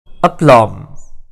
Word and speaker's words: aplomb: Aplomb. The first thing you should know about this word is that the letter B is silent.